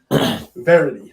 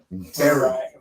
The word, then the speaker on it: variety: When I said that word wrong. Verity. Very. What? Variety. And like, what is that? Like when you have a lot of different things. Like variety. That's how you say it.